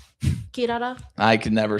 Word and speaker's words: Kirara: Kirara. Kirara. I can never say her name. Kirara. Yeah. You gotta roll your R.